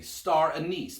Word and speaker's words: anise: Now I'm saying that very distinctly, star anise, because the other pronunciation that some people will use of that word doesn't sound like something you want to put in a drink.